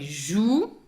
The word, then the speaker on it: jouent: By the way, joue, pronounced joue, written J-O-U-E-N-T.